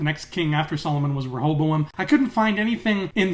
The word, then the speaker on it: Rehoboam: going on with the big evil sphere with Rehoboam, which is how I learned it's actually pronounced, because she says it out loud.